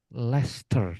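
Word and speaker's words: Leicester: Lester teman-teman. Ler tulisannya sih Leester, Teman-teman. Tapi melafalkannya Ler.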